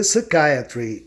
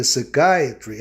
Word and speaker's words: psychiatry: biologia biology psiquiatria psychiatry Observe que em Psiquiatria psychiatry Acontece uma regra de conveniência geralmente a vogal I em meio de palavra não s a mas para você escutar a palavra psiquiatria de forma proparoxitona conforme a regra consoante y no final o i especialmente ou excepcionalmente soua a ó psychiatry Lembrando que o grupo psí geralmente soa I Psy né deu lugar à tonicidade ao stress a vogal